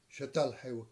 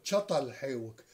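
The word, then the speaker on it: Çatalhöyük: جدا جدا، وهو منطقة شتال حيوك. الحقيقة اسم الصحيح هو شطل حيوك، شطل بمعنى شوكة، هو فعلا اسمه تل الشوكة، شطل شطل حيوك شوكة،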